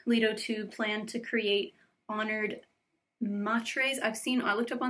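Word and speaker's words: Honored Matres: to plan to create honored matr I've seen I looked up on the internet people pronounce it honored maters honored matri honored matre I don't know what it is but like corrupted type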